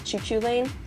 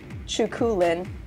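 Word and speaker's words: Cú Chulainn: ulster cycle he has many different pronunciations and spellings such as choo choo lane chukulin and kuhulin his hair has three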